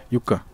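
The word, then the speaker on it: Юкка: Юка, он фин. Да. Юка. Правильно так произносить.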